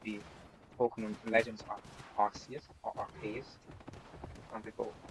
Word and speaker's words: Arceus: Pokemon Legends Arceus or Arceus. Some people say it like Arceus, and some people say Arceus.